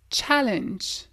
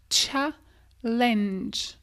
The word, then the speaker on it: challenge: terry certainement un challenge comme on entend souvent français ça se dit challenge c'est comme si tu avais un tch challenge challenge lachance teens encore